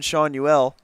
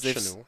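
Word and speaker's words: Schanuel: He just Nolan Shanuel. Not Chanel. They've said his name wrong every single time tonight. That's the one that's gotten butchered the most.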